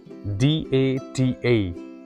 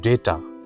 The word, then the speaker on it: data: DATA. This is, I think, one of the most commonly mispronounced word, and people pronounce it as data, but it is not like that. It is data. Data.